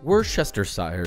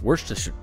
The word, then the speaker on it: Worcestershire: of the sauce that nobody knows how to pronounce. Worcestershire sauce. Worcestershire.